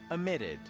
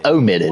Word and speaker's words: omitted: Amitted. Why do you say it like that? It's omitted.